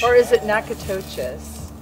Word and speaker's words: Natchitoches: Hey from Natchitoches. Or is it Natchitoches? Natchitoches, Louisiana. It's definitely not pronounced the way it looks.